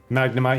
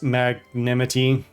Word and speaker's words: Magnemite: One of the YouTubers I watch, Flag on HG, deliberately and constantly mispronounces Pokemon's names. Nice. It's like Girafarig, he calls Girafaridge. Arcanine, he calls Arcanine. Magnemite, he calls Magnanimity.